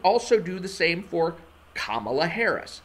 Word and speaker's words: Kamala: kind of understandable because there are people who spell their name the same way, K-A-M-A-L-A, and pronounce their names Kamala. But Kamala Harris is not one of those people.